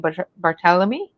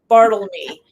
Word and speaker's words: Bartelme: It's "Go with the Flow" by Delaine Barthelemy. And I probably butchered your name again. I do it every single time, just saying. It's Bartlemy. Bartlemy. People try to make it more complicated than it is.